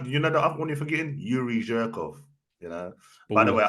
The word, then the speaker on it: Yuri Zhirkov: Yuri Zhirkov.